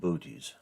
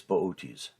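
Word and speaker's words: Boötes: in the lap of booties if you saw his name spelled out you'd want to pronounce it booties but it's bootes at this time of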